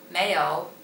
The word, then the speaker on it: 没有: The second one, 没有, 没有.